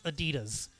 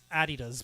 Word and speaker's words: Adidas: Last week, sportswear firm Adidas, and I remember Steph was actually having trouble pronouncing it. It's Adidas, not Adidas, but like Adidas.